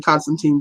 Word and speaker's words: Constantine: his books and that's John Constantine or Constantine if people want it pronounced that way it's actually Constantine sorry guys um but ya know